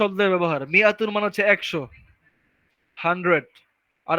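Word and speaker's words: مِائَة: তো বলতেছে যে মিয়াতুন, মিয়াতুন শব্দের মধ্যে দা আলিফ ইজ নট প্রোনাউন্সড, এই আলিফটাকে ইউজই করা হয় না।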